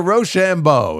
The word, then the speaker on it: Rochambeau: It's the Rochambeau. It's not that hard to pronounce.